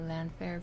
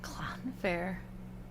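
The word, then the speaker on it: Llanfair: just call it uh landfair PG well that's a copout now I feel like the double ll is pronounced CLA CLA like something stuck in your throat clown Fair like that clown Fair CL clown Fair L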